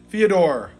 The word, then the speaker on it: Fyodor: Fyodor. Like Theodore. Fyodor.